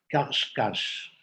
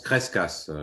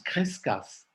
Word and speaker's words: Crescas: Ça s'écrit Kuf Resh Shin, Kuf Shin. Il est très peu cité. Je l'ai trouvé dans un article quelque part. On prononce Crescas, Charles. On prononce Crescas.